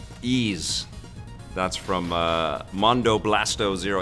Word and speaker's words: Ys: I think Vic and Tommy discussed how to pronounce the name Ease.